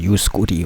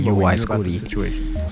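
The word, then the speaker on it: UY Scuti: I thought that shit was like pronounced like U Scotty or some shit, U Scooty or some shit, boy. Here's me that night. It's actually called UI Scooty.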